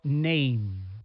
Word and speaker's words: name: Collect the letters of the word name in the proper order. Remember, the E is silent.